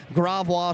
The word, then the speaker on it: Gravois: me a couple years to actually learn to pronounce his name right, but I got it figured out now. Gravois show pigs, Clyde Gravois there from eastern Louisiana, I should say there.